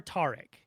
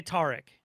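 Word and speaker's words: Taric: spotlight featuring tarik oh it is a hard a it is tarik it's terrick yeah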